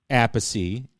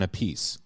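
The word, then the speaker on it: Appice: Well, no, they they do pronounce it differently because Vinnie goes by Vinnie Apey and Carmine goes by Carmine goes by Carmen a piece.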